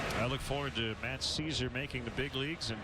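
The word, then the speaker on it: Szczur: salas matchup too much that's not how it's spelled by the way it's s z c z u r hail caesar for making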